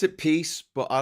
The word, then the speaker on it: PiS: peace and Justice party um piss y they pronounce it peace but I like to call it the piss